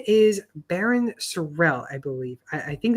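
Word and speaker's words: Barryn Sorrell: But his name is Baron Surell, I believe. I I think that's how you say his name, right? Yep. Baron Surell.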